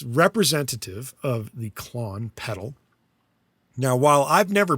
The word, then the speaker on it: Klon: However, they call theirs I guess you're pronouncing it the same, Klon.